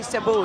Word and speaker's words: Cebu: it's from cebu city is that how you pronounce it cebu it's actually cebu yeah it's uh about an hour flight from